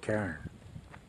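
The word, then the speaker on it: cairn: time but here is what it's called karen no not the kind they make videos about it's not this one's spelled with the sea um you see a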